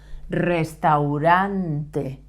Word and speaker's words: restaurante: is loss restaurants restaurants this is a good word to practice the r sound because it has two R sounds Restaurante restaurantes the restaurant is